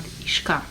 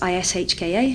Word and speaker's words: Ishka: But Ishka, the way we spell it, is Ishka. It's like the phonetic kind of, I suppose, English kind of version of it.